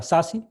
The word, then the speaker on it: SASE: vamos a hablar deshace Security Access Services se pronuncia sasi es un servicio que es producto de la